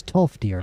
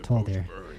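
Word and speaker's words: Tolfdir: It's Tolier, not Toldier.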